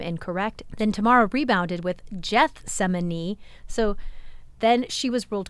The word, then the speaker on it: Gethsemane: online saying, wait, but he used the hard G. It is Gethsemane. And yes, it is Gethsemane, but it's not Gethsemane.